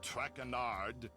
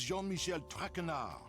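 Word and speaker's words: Jean-Michel Trénard: I eat as for my name not trenard it is Jean Michelle trenard Jean Michelle trenard TR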